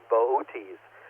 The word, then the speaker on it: Boötes: Arcturus is the brightest star in the constellation of Boötes. I know, it looks like it's spelled boots, but anyway, it's a shepherd.